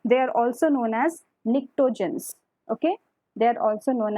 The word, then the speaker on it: pnictogens: They are also known as pnictogens. Okay. They are also known as T is silent here, pnictogens.